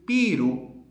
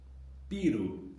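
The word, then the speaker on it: ビール: Beer in Japanese is Piru. Piru. Obviously an important word from English. Uh long the long vowel there is mimicking the English beer.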